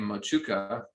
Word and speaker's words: Motueka: That hop was grown in New Zealand under a name Mochuka. Well, we're told that's what it's pronounced by a Kiwi. but it's spelled Motueka, so probably most of us are still calling it that.